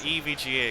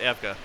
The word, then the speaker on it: EVGA: we get is occasionally people will will pronounce EVGA we hear that we hear that all the time it is EVGA in case you're wondering not Eva but Eva's okay too or uh Nidia I've